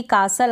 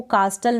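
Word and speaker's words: castle: जैसे कि कासल आता है, इसको कास्टल नहीं पढ़ेंगे। इन स्पेलिंग्स में T साइलेंट है, कास्टल पढ़ेंगे नहीं, कासल पढ़ेंगे। क्या पढ़ेंगे, कासल। T यहाँ पर साइलेंट है, कासल।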